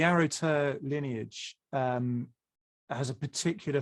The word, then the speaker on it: Aro gTer: you've become part of this arrow to is that how you pronounce it yeah so the arrow tur lineage um has a